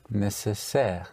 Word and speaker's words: nécessaire: So instead of in the spelling A-R-Y is spelled A-I-R-E. So necessary would be Nécessaire.